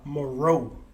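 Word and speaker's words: Mareux: see his name by moroe but it's spelled m-a-r-e-u-x so it's like that french occasion yeah oh like bordeaux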